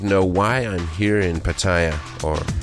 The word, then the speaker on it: Pattaya: Then you'd know why I'm here in Pattaya, or Pattaya as the locals say, and how I got fed up with